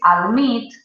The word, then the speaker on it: admit: Mientras que si decís admit, por ejemplo, ¿sí? La acentuación recae en esa segunda sílaba.